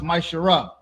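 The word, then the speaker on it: ma'aser: It means 10th in Hebrew, and it's pronounced Maishara.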